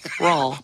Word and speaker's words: Rauel: You finally learned how to say it by remembering Paul, right? Correct. Rauel like Paul.